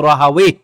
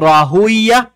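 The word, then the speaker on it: راهويه: ইসহাক ইবনু রাহাওয়ে, ওনার নামটা দুই ভাবে বলা হয়। এটা কি ইসহাক ইবনু রাহুইয়া এটাও বলা হয়, আবার ইসহাক ইবনু রাহাওয়ে এটাও বলা হয়। ঠিক আছে, দুইটাই সঠিক উচ্চারণ।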